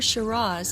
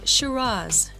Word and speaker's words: Shiraz: is sounded more like Shiraz with a Z sound at the end however there is no